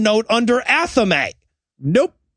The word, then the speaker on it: athame: that the wiccans use which is pronounced correctly pronounced athame and he calls it anathemi and i'm like you know everybody mispronounces that